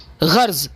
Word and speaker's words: غرض: غرض یہ کہ پہلے تو آپ اس کے تلفظ کو جانیں کہ غرض کو غرض پڑھنا، رے کو ساکن کر کے پڑھنا غلط ہے. غرض جس طرح آپ یوں سمجھے کہ غزل پڑھتے ہیں غزل، اسی طرح سے اس